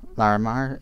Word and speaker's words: Larimar: and some more Larimer larimar is how it's pronounced oh wait I didn't need 10.